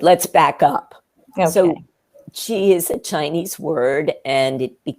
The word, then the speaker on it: qi: It's, when you spell it, it's CH''I. That's how we usually write it in English. Sometimes it's QI, so people, if you see that, CH''I or QI, it's qi.